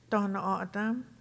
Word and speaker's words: Tohono O'odham: many phone calls and emails asking how to pronounce this name. And so we can be called Tohono O'odham or just O'odham.